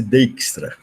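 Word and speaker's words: Dijkstra: esse bjks TR a né se pronunciasse dextra se logo essa esse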